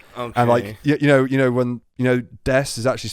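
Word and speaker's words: です: And you know when Des is actually spelled Desu. Mm-hmm. She's one of the characters that pronounces the U at the end of it. Oh Desu. no! Yeah, so Desu, Desu.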